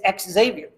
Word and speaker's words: Xavier: That's how he wants it pronounced. He said specifically this offseason, it's Xavier. So it is what it is. However, the university is still Xavier. Anytime X starts a word, sounds like the letter Z.